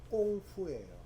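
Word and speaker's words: 功夫: 근데 그 공부가 원래 중국 발음이 꽁푸예요. 꽁푸. 근데 그 이제 외국 사람들이 뭐 꽁푸, 꽁푸 하니까 그거 갖다가 영어로 표현한 것이 쿵우가 되어버린 거야.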